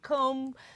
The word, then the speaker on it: comb: I don't know why there's a B in comb.